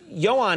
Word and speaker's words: Ioan: Nate this is amazing the name is Johan is io a n yes and then Griffith